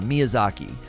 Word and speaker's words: Miyazaki: Yeah, Miyazaki.